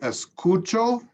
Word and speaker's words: escucho: So the here, the C is producing the hard sound, escu, and here it's the cha.